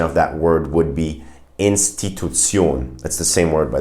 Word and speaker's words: Institution: In a word like institution, the German pronunciation of that word would be Institution.